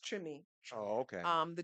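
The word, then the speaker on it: Treme: New Orleans in the trim and you all may remember that HBO series T yeah the the the the with the accent of Louisiana it's pronounced trim oh okay um the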